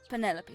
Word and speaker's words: Penelope: But I never can be bothered with all four syllables of it. Penelopey sounds a little ostentatious coming out of the mouth, don't you think?